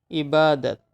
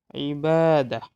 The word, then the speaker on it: Ibadat: Ibadat. Ibadat. It is Arabic word. Ibadatun. You also can pronounce ibadah.